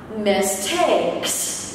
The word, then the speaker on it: mistakes: Vậy các từ này kết hợp với nhau nhấn ở trọng âm ở âm tiết số 2 ngữ điệu sẽ là lá. Mistakes. Mistakes. Mistakes.